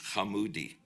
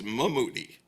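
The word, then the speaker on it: חמודי: Early on, I used the Hebrew word for sweetie, Hamoudi. She mispronounced it as Mamoudi.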